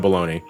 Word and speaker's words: bologna: I shouldn't judge too harshly because English does have baloney, and that's spelled Bologna.